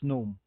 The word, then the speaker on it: GNOME: one is gnome or gnome as they would pronounce it i would normally have it pronounced um silent g it's gnome okay um so uh